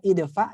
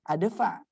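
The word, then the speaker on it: ادفع: Kok dibacanya idfa ini masuk di kolom i? Ya karena kalau untuk alif lam itu berlakunya hanya untuk a itu berlakunya hanya untuk alif lam yang mati.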